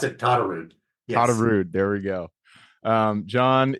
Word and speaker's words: Todderud: Pronounce it to Tarude.